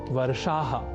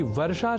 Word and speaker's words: वर्षाः: यहाँ ध्यान दीजिए कि वर्षा शब्द का संस्कृत में सदैव ही बहुवचन में ही प्रयोग होता है, अर्थात वर्षा नहीं वर्षाः ही प्रयोग की अवस्था में लिखा और बोला जाना चाहिए।